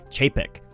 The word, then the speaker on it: Chapek: I think I finally learned how to pronounce his last name, Bob Chapek.